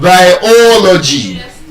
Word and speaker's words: biology: So, we could have biology. So, look at that word. It has four syllables, biology. But where is the stress? The third to the last syllable, o biology.